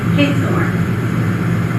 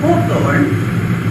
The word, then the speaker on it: Hathorn: Most of the spellings seem to indicate that in his lifetime, people pronounced his name Hathorn.